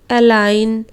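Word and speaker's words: align: Design, अलाइन, resign, इस तरह पढ़ेंगे।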